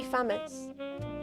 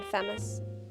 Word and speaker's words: Faymas: It's meant to be famous. I pronounce it incorrectly, like famous, but it's meant to be Jean Faymas. Like the gun. It's like the gun chat.